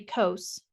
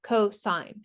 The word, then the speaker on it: cosine: sine Theta and then cosine pronounced cosine is abbreviated cos when you see this word you don't say cos you say cosine K it's just an abbreviation and then tangent is